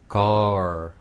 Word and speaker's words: girl: girl 네, 거기가 G-I-R까지예요. L 발음은 이렇게 끝난 거죠.